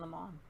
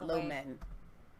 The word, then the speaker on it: Lemon: Lemon. Le. That's not Lomen. Lemon. Lemon. It's like lemon.